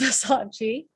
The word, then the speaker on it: Versace: currently in london and i think versace should be pronounced versace okay so we've got